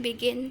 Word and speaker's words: begin: Kemudian begin itu begin, pengucapannya begin ya, penekanannya di suku kata kedua, maka harus didouble.